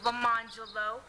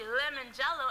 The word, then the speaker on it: Lemon Jello: up with the name Mr lamangelo which is actually lemon jello and it is spelled j-e-l-l-o shut up no no